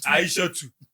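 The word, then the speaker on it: Aishatu: We'll add a two. Yes, Aisha two Mhm.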